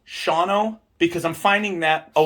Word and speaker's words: Shawano: yeah, like I'm a fucking retard because she's telling me that it's Shawano. And I'm like, you just took an entire syllable out of it and letter.